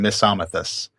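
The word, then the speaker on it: Misomythus: but I'm going to pronounce these Philomathus and Misamathus, because that's Okay. how I know to pronounce those.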